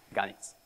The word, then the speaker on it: Ganyicz: But if you need to know, it's pronounced Ganis.